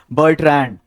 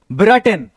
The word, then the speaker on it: Bertrand: BERTRAND जो ideas that have helped Mankind के writer हैं, उनका नाम होगा बर्ट्रैंड, ना कि ब्रटन।